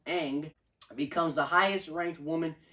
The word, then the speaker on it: Ng: the title general manager ng pronounced aang becomes the highest ranked